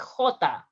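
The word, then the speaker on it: jota: review the video about the g and the j pronunciation those are part of the most difficult letters in spanish sounds like hota some examples here harabe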